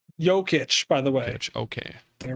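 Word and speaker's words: Jokić: goes and all right joe kitch over to yogurt yokitch by the way okay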